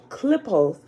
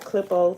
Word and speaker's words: Qlippoth: right to it tablet queue book of the clip oath and the other side clip-off is spelled q-l-i-p-p-o-t-h the close of the year